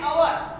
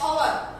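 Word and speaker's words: hour: एन is also use before words beginning with H where it इज not pronounced. और जहाँ पर हम बोलने में अभी यहाँ पर देखो एग्जांपल है अवर.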